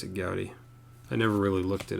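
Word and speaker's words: Goudey: You pronounce it Goudy or Goody? Pronounce it Goudy.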